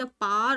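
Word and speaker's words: power: द पावर ऑफ, द पार, इसको वैसे तो पार बोलते हैं, द पार ऑफ, पावर में पार होगा, W साइलेंट है, पार ऑफ पीयर इन्फ्लुएंस।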